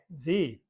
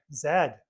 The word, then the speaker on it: Z: In the United States, the name for the letter is pronounced like Z, but in the rest of the English-speaking world, it is pronounced like Zed.